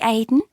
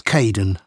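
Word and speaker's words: Kaeden: Hi, Aiden. Uh, it's Kaden.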